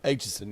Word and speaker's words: Aitchison: That sit there in the offices like Sue Aitchison. Is that how you pronounce her last name? Aitchison, yeah.